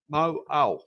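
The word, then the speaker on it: Mauao: Mo'au.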